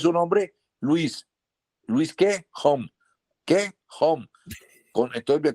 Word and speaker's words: Home: Como yo pronuncio mi apellido Home, yo lo pronuncio así.